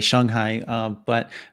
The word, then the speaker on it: Shanghai: I was in Shanghai, actually, I should say it correctly, Shanghai, a number of years ago, but I was very fortunate to come in right after a typhoon.